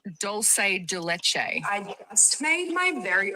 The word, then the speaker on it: dulce de leche: It's dulce de leche. I just made my very own douche de louche, which it's literally just condensed milk.